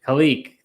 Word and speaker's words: Khaleke: Khaleke.